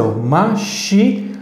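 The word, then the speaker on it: משיח: Então, a pronunciação vai ser Mashiach. Esta Het final vai indicar que eu devo de pronunciar primeiro la vocal, depois la consonante.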